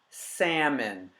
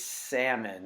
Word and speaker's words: salmon: bought four pieces of salmon say with me salmon it has a silent ill English is the funkiest language ever sorry but it's salmon and you can look up the etymology of